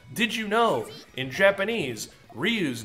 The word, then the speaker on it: Ryu: Or probably few, you know, like, oh, did you know, in Japanese, Ryu's name is actually pronounced Ryu, and means dragon.